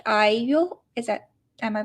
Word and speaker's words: IU: And actually she like IU, is that, am I pronouncing it correct?